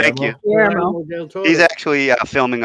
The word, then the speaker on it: Guillermo: Guillermo. Thank you. Guillermo.